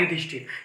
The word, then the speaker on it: युधिष्ठिर: और र का आर, तो युधिष अलग बना और फिर अलग, जब दोनों को हम कंबाइन करते हैं तो यहां हो जाता है युधिष्ठिर। ये युधिष्ठिर का सही उच्चारण है।